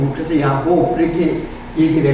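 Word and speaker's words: יעקב: 야곱이라는 말은 그 히브리 음력을 하면 아코브예요. 아코브. 그러니까는 그 야곱이라는 말이 이제 음력을 하면 야코브예요. 근데 그걸 갖다가 이제 우리는 이제 야곱이라고 번역을 한 거지, 히브리 본래 발음은 야코브.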